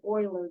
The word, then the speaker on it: Euler: called Euler's number but it's spelled e-u-l-e-r in case you were wondering that's not Euler that's Euler a German mathematician named leonhard Oiler did a great deal